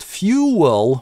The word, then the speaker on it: fuel: Law on fuel - а вот fuel у нас здесь совершенно легитимно linking [w]. При этом Wiktionary дает еще варианты: с кратким /ʊ/ в первом слоге и , в один слог.